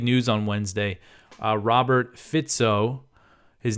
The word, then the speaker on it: Fico: this was big news on Wednesday uh Robert fito his name is spelled f I've I've talked about him before and I pronounced his name FICO but I actually had a listener who I